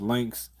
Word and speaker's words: Lynx: It's pronounced Lynx.